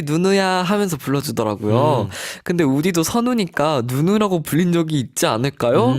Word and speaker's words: 선우: 근데 우디도 선우니까 누누라고 불린 적이 있지 않을까요?